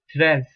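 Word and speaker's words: treize: you have t r e i d e pronounced as stress tress okay now number 13 is crown staff class now we go to number 14.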